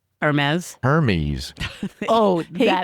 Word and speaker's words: Hermes: Hermes.